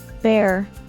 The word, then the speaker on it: bear: be brave note that the cluster EA is pronounced as an e sound bare bear and in fast speech